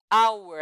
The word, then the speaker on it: hour: Hour, aqui diferentemente, nós temos uma consoante que não é pronunciada. Então, o primeiro som é uma vogal, hour.